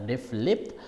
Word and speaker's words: RFLP: restriction fragment length polymorphism restriction fragment length polymorphism pronounced as a ref lip refers to inherited differences